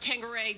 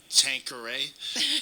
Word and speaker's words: Tanqueray: Yeah, because we had a story about Tanqueray gin.